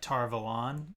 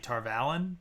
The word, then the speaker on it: Tar Valon: But, uh I was admittedly wrong for a very long time about Tar Valon, saying Tar Valen, because that's what the audiobooks say.